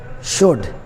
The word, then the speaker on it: should: L is not pronounced in some cases when it is before D. For example, would, could, should.